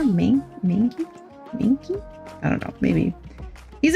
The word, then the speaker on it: Mankey: This says it's pronounced Mankey. Like mang. There's like a G sound in there. Mankey?